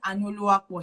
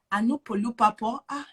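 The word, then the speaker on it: Anuoluwapo: I said Anuluapo. She said Anupolupapo.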